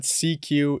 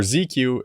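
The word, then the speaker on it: SieQ: tone some more so i'm going to add cq into my effect chain this plugin is modeled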